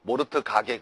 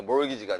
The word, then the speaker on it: mortgage: T가 묵음이에요. T가. 알겠죠? 모르트 가게 그러지 말고, 알겠어요, 여러분? 그래서 이게 몰기지가 되는 겁니다.